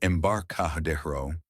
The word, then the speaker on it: Embarcadero: At a bar near the Embarcadero, pronounced Embarcadero, I overheard two tech bros talking.